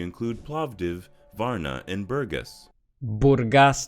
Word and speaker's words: Burgas: in the country include plavdiv Varna and Burgess Burgas not Burgas it's not a burger by the way I also live in Varna the previous City 3.